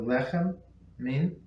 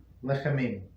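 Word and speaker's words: לחם מן: The last letter of the word lechem, bread, and the first letter of the word min, from, and both mem pronounced like an English M.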